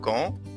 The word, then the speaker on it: quand: تاني، حرف الكي لو جه بعديه حرف اليو، حرف اليو لا ينطق. arrive quand نفس الحال، حرف الكي في كلمة quand جه وراه حرف اليو، يبقى بكده حرف اليو لا ينطق، ما ينفعش نقول quand نقول quand.